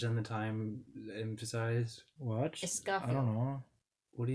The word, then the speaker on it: Escafil: Escafil is how I pronounced it. I always feel like a scaffold, like scaffolding.